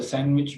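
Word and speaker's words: sandwich: इसी तरह से सैंडविच में डी नहीं पढ़ी जाती।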